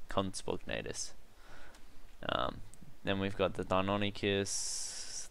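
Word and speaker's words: Compsognathus: Just like everyone calls the conspognatus a compi, it's conspognatus.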